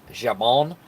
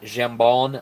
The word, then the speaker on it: jambon: pronounced this correctly, is jabon, or maybe it's jambon. I don't know. It's pronounced jambon if you say it like an American, but jambon, I believe, because it is a French word, and they mixed that with paella.